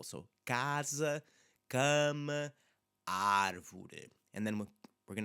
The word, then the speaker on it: cama: It's the S after it in casa, and cama is forcing us to just slightly change how that sound is going to be produced.